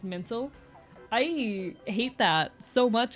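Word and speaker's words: mainsail: Uh, main sale is actually pronounced mincel.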